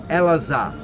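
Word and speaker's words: אלעזר: In Hebrew, it's Elazar, from the word Ezra, which means help. El-Azar, which means El, God is my help.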